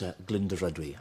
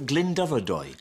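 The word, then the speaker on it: Glyndyfrdwy: It's what is Glyndebrydwy? Glyndebrydwy. Which famous Welshman was born at Glyndebrydwy? No, wrong. I think it's Glyndebrydwy. Glyndebrydwy. I think the R is silent. Dubrydwy, right. So it's Glyndebrydwy. But I've said it wrong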